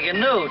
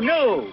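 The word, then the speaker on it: gnu: or something and a G new too G new it's she and you new the g is silent there's one thing you've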